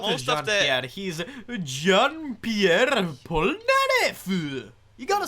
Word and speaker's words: Jean-Pierre Polnareff: He's Jean-Pierre Polnareff.